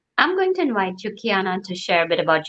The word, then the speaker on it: Keyonna: hi everybody and kiana just to confirm i'm pronouncing your name correctly right it's kiana kiana okay so let's uh i wanna make sure